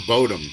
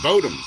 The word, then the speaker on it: Bodom: this shit where he wanted to argue about how to say children of Bodom, children of bottom, children, you know what I mean? Like, he wanted to say it's Bodom. And I'm like, okay, it's Bodom, but in their song, it's bottom after midnight.